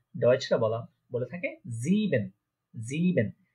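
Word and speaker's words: sieben: দেখেন এখানে আই আগে ই পরে, তো আই আগে ই পরে থাকলে ইয়ে, ইয়ে উচ্চারণ হয়। এখানে ছিল ই আগে আই পরে, তাই এটা উচ্চারণ হয়েছে আই। যেহেতু এখানে ই আগে আই পরে, তাই এটা উচ্চারণ হচ্ছে কি ইয়ে।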